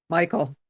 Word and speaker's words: Michael: By the way, how do you pronounce your name? Michael.